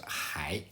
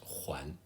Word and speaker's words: 还: Please note that this Huan would normally be pronounced hai, meaning still or yet, but here, as a verb, needs to be pronounced Huan.